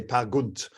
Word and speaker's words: Peer Gynt: Peer Gynt. Peer Gynt. Actually, it's a Norwegian play. They say Per Gynt is the Per Gynt.